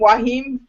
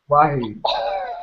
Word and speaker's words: Joaquin: Wahim. Wahid. The J is silent.